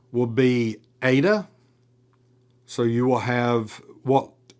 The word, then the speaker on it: eta: Ada is going to have a long a sound as in late.